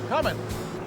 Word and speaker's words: Cummins: He is the general manager of Cummins. And did I pronounce that right? That's correct. Cummins, no G. No G in Cummins.